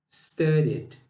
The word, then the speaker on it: studied: O verbo no presente é study. Study tem duas sílabas. E no passado, deixa as duas sílabas, tá? Studied. Studied.